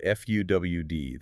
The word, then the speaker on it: FEWD: But the core of what we are talking about here, if we strip away the jargon, is a newly implemented protocol called FUWD. That's spelled FEWD.